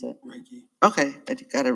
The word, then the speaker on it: Reiki: How do you pronounce it? Reiki.